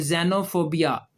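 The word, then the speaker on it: xenophobia: और यह जेनोफोबिया क्या लफ्ज है ये?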